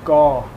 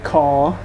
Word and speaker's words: เกาะ: Island in Thai is gaw. It's not kaw. It's not spelled with a K in Thai. It's spelled with like a G sound.